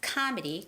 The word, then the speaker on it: comedy: word win winchester and comedy is not comedy it's comedy comedy performances comedy performances now when it comes to words comedy or performances you have to make sure that you're making the right stress it's comedy comedy comedy and performances performances performances